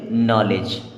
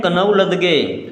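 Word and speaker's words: knowledge: नो अब इसे यहां पर डी होता है साइलेंट इसे क्या पढ़ेंगे लेज क्या हो जाएगा नॉलेज इसे पढ़ेंगे नॉलेज अब बच्चे क्या पढ़ते हैं कनऊ लद ग क्या पढ़ते हैं कनौ लद ग और नॉलेज को हम कन लद पढ़ेंगे तो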